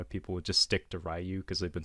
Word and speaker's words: Ryu: Was in Japanese it would be pronounced Ryu. But in the States, most people call him Ryu.